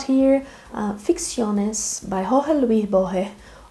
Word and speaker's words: Borges: So I bought here Ficciones by Jorge Luis Borges, or here in Brazil it is pronounced Borges.